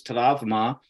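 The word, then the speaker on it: τραύμα: way for our listeners taravma is an ancient Greek word uh spelled the same it looks the same but it's pronounced in Greek and the original meaning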